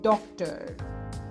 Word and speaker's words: डॉक्टर: ये एक English borrowed word है, इसलिए इसकी प्रोनाउंसिएशन थोड़ी सी डिफरेंट होती है। इट इज an English borrowed word, so the pronunciation is slightly different in this case.